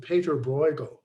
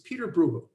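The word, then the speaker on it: Pieter Bruegel: and uh sometimes you will hear art historians pronouncing it peter bruegel and i used to do that but that's how it would be pronounced with germa but it's not it's dutch and he's peter brugel and this is to uh distinguish him from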